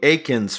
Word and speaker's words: Eakins: know correct pronunciation and he's like hey it's Aiken like bacon so I'm like oh